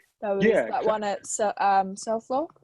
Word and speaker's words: Selfoss: There was that one at Selfoss. How do you say it? Selfoss. Selfoss, yeah.